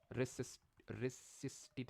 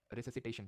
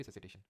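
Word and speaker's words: resuscitation: Cardio pulmonary, cardio pulmonary रेसिस्टिट, जो भी यार इसको प्रोनाउंस करते हो, रेसिसिटेशन। ठीक है, इसको प्रोनाउंस करते हैं कार्डियो पल्मनरी रेसिसिटेशन।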